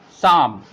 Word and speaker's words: psalm: So I'll show you how to pronounce these words where the P is silent.